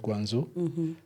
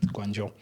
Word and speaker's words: Guangzhou: So I did computer science in Guangzhou. Most people call it Guangzhou. But just for the people out there, ZH always is pronounced as J in Chinese. Yes. So which makes it Guangzhou.